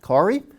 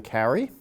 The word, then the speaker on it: Kari: than object number two my mother-in-law is Kari pronounced Kari do not call them Carrie they do care and